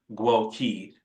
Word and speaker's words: Gwoke: gen xer I am GUI with an e pronounced at the end of my name right I am my